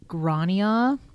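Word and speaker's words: Gráinne: So I believe that this name is pronounced Grania Yes, O'Malley, I think so.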